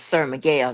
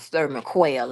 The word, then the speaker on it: Miguel: And Sir Miguel's name is Sir Miguel, not Sir McQuail and all that Sir Miguel, but again, nobody want to correct her.